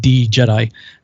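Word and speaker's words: Djed: It's spelled with a D before it, D Jedi, the Jedi, and it looks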